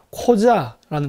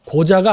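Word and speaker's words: Қожа: 카자 국민이에요 그게 바로 코자라는 겁니다 고자가 아니라 코자 발음 조심해야 돼요 코자입니다 코자 코자 그 다음에 토레라는 두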